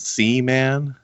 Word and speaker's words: Siemens: with some cool people it's pronounced C man C means don't